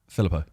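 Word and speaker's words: Philippou: Filippo.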